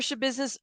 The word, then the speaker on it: Schabusiness: heard about it yeah it's it's a business that's how you say her name unless you guys say different but that's how it's I've heard it pronounced I could be wrong